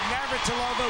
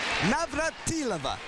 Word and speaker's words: Navratilova: And I think for the record I'm going to Virginia pronounce Martina's name correctly. Nobody does it. And she cautioned us early in her career that nobody would be able to. And she said Maveratova was just fine and that's what we've done. But it's Martina with the accent on the M. Navatila. That's the only time we're